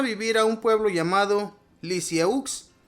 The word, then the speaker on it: Lisieux: a un pueblo llamado Lisieux. Se pronuncia Lisie, por eso la llamarán más tarde Teresita del Six.